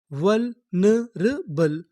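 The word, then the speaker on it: vulnerable: आगे एन लिखा है ना, ई लिखा है वल ने, आर ए इसे पढ़ेंगे रा। यहाँ पर जो हमारा ए है वो हमारा साइलेंट रहेगा।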